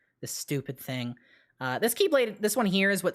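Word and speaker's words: χ-blade: dropped concept okay so the keyblade that is spelled with an x uh that was part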